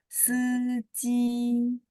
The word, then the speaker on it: 司机: Seji.